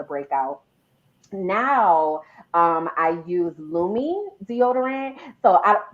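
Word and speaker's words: Lume: that caused the breakout now um i use lumi deodorant so i spell it there it is l-u-m-e um so gina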